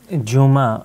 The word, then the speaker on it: Juma: Well, Juma in Arabic, or Jume in Persian, that's the Persian pronunciation of it, is the day that Muslims venerate as their day of prayer, coming together.